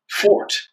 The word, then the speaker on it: forte: and as a pendant fort is the way you pronounce forte so anyway back to